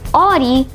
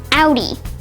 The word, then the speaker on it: Audi: Well, in German, if you see the letters AU almost anywhere, it will probably be pronounced Au. And that's the case here, where it's not pronounced Audi, but rather Audi.